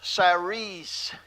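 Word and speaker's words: סָרִיס: That word there for officer is pronounced saris.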